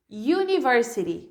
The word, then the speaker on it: university: conferir os exemplos E ai Universe are you University e a you Unicorn you Unicorn Ok that